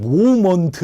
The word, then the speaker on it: 모멘트: 영어로 이렇게 표현된 용어를 저 학교 다닐 때는 모먼트 이렇게 불렀거든요. 모먼트. 좀 더 유식해 보이, 미국 사람 발음에 가깝습니까? 그러니까 어떻게 읽든 상관없는데 이것을 요즘에는 그냥 모멘트 이렇게 부른다는 거예요.